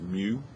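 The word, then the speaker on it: μ: statistics we'll use this Greek symbol which is pronounced mu it's like a u with the extra tail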